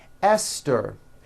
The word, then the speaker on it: Esther: like to point out although these next words and names are spelled with a t H they are pronounced as if they were spelled with a normal T TT like that and